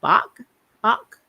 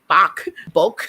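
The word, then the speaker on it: 박: like butcher them like even my last name park is korean i think in korea is bach like b-a-k-b-a-k and i always forget that and sometimes i'll say bulk i'm like it is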